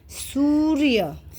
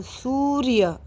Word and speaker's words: सूर्य: लेकिन इन शब्दों को ऐसे नहीं पढ़ा जाता, कैसे पढ़ा जाता है, सूर्य, कैसे पढ़ेंगे, उच्चारण करके दिखाओ, सूर्य, एक एक आराम से करो, मुंह खोल खोल के, सूर्य।